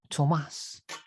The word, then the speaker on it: Tomas: Thomas with no H, Thomas. Yes, because I was born in Argentina and the pronunciation of my name is Tomas instead of Thomas, but irrespective.